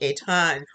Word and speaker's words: Etan: have questions to either eaten a ton excuse me eitan or kevin i'll give